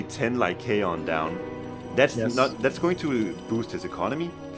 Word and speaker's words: Lycaon: English pronounce Lycaon. Lycaon. Lycaon. All right, we'll go with Lycaon.